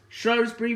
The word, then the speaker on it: Shrewsbury: of course, you guess, Shrewsbury Railway Station. Now, people on the side of this town, they call it Shrewsbury, but we call it Shrewsbury. So Shrewsbury and Shrewsbury, they're pronounced in different accents.